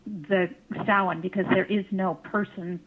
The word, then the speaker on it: Samhain: It looks like Samhain, but it's pronounced Samhain.